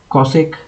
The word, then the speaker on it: cosec: So normally these are pronounced as se cosec and uh cot.